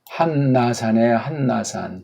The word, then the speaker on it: 한라산: 우리 저쪽 제주도에서 제일 높은 산 2000m 가까운 산에 정확한 그 한문을 우리 정음을 하면 한나산. 그렇죠? 이렇게 한나산이라고 해야 맞습니다.